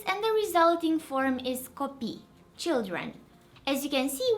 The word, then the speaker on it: copii: asking in the comments if copii and copii are pronounced the same, and I hope you can hear they have different pronunciations. So this one's copii and this one copii.